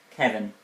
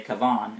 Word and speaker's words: Kavan: It was tricky, but eventually they got it, and were reunited with the boy, Kevin, or should I say Kavan, it's pronounced, who had brought them their weapons, so they could defeat the beast.